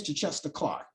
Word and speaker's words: Chichester Clark: And back in 1969, Northern Ireland Prime Minister Terence O'Neill resigns, and he's later replaced by James, how would you pronounce this? James Chichester Clark.